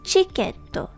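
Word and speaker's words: チケット: In English, it sounds more like tiketo, but it is pronounced as chiketo.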